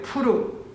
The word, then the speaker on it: 부르: 무리가 부르의 이름을 따라 이 두 날을 부림이라 하고 부르라는 이름 때문에 부림이라고 불렀다라고 하네요. 부림절. 부르라는 이름 때문에 부림이라고 불렀대요. 자, 따라해 볼게요. 푸르. 예, 부르의 정확한 발음은 푸르입니다.